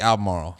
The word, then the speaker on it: Albemarle: You just have to forget that there's a B there.